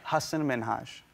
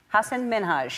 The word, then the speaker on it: Hasan Minhaj: Hasan Minhaj. Hasan Minhaj.